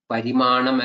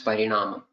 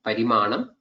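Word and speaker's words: parimāṇa: It is actually Parimanam, not Parinama. If I have made such a wrong pronunciation, that should not be, or that should be corrected. That is not the right word. It is Parimana.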